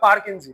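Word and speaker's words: Purkinje: প্লাজাম ভালোই তো পাচ্ছিস পারকেঞজি স্পেলিংটা অত খেয়াল করবি না যা আছে পারকেনজি উচ্চারণ হবে পারকেজি ঠিক আছে বোঝা গেল ইম্পর্টেন্ট প্রশ্ন হচ্ছে নিউক্লিসকে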